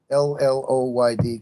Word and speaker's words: Lloyd: L by the way Lloyd is a Welsh name and it's pronounced the Double L is pronounced in Welsh so you've got your